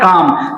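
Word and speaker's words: calm: Next rule ये कहता है बच्चा कि जब एल के बाद एम आएगा और उसके पहले ए आए तो एल हमारा क्या हो जाएगा? साइलेंट हो जाएगा। आइए देख लेते हैं। जैसे यहां पे लिखा है काम। सी ए एल एम।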